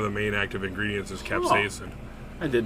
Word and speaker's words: capsaicin: do you say that word Casey person perception capsaicin capsaicin yeah okay which is funny it's not only